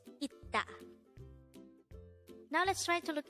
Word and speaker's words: 있다: So, this is not isda, but it is itta.